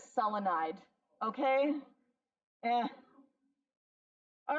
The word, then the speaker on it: selenide: hydrogen becomes, okay, so just 2 syllables, take that first syllable, add "ide." The only one that doesn't do it is selenium, but you're hardly ever going to come across that. Selenium is selenide, okay?